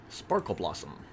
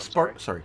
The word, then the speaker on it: Sparkblossom: Sparkle Blossom. I'm Spark Blossom. Sparkle Blossom. Spark Blossom. I mispronounced.